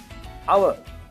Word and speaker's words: hour: uniform now you should take the word word our h o r the word h is silent so how will you pronounce it a